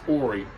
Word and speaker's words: Horry: the horry county it's spelled h-o-r-r-y like hoary but it's pronounced ori horry county uh republicans